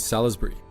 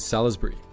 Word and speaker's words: Salisbury: Like, yes, it is spelt Salisbury. It's just, you don't pronounce, the I is silent.